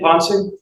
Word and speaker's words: Ponce: And Officer Ponce, is that how you pronounce his name, Ponce? Yes.